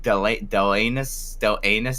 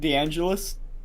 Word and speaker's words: DeAngelis: So, you know, and one of the first people to sign up was some girl I've never heard of called Meg Delanus.